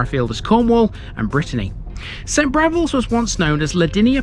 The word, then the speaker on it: St Briavels: Although it's spelt Briavels, this is St Briavels because it's named after a much travelled early Christian missionary, Briog, whose name also appears in places as far afield as Cornwall and Brittany.